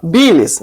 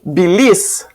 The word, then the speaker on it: bile: É, a gente fala biles, não bilis. Elimina A.